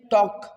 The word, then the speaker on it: talk: CALM, काम, PALM, palm, CALF, calf, HALF, half, WALK, वॉक, TALK, टॉक, BALM, bomb, WOULD, उड, और SHOULD, should.